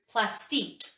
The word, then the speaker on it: Plastiq: about i'm pretty sure the way you pronounce it is plastic and people have been